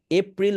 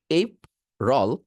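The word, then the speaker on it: April: মিসপস pronounce হয়ে থাকে so spelling এ যাবেন না এপ্রিল বলবেন না এই আর রল বলবেন রোলটা আলাদা রাখবেন এই আলাদা রাখবেন তারপর কানেক্ট করবেন এই রল এপ্রিল এপ্রিল এপ্রিল বুঝতে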